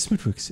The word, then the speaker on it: Smithwick's: Say it like Stewie does Cool Whip. Smithwick's. Smithwick's. It's Smithwick's.